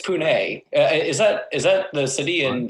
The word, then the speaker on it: Pune: city where the people can agree on the pronunciation of the city's name. And the name is Pune. Pune. It's Pune.